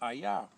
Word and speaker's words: Hayah: That's pronounced HAYAH, because Hey, Yod, Hey is pronounced HAYAH, and the Aleph is silent.